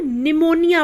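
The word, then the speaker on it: pneumonia: silent होता है जैसे पी एन ए यू एम ओ एन आई ए इसे हम क्या पढ़ते हैं इसे हम निमोनिया पढ़ते हैं अब आप कहेंगे की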